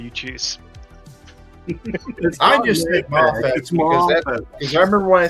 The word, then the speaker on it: Mafex: Because I keep getting it's not Mafex, it's Mafex. It's not Mafex, sir. There's no hyphen. It's Mafex. Okay, Mafex. Wrong, no matter how you pronounce it. The people at Mafex say Mafex.